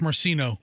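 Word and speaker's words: Marceno: the hundreds that is a sheriff Carmine uh marcino is that how you pronounce it yeah Sheriff marcino yeah uh down in Lee County that is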